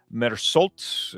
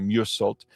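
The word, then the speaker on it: Meursault: Uh this is the Francois Ozone film and uh it says in French Algeria, office clerk Merult is that's definitely not how you say that. It's probably Musult uh stands accused of murder.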